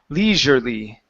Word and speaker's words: leisurely: your lips in like you're saying sh but it's you're gonna it's going to be a voiced sound Z Le leisurely leisurely there you go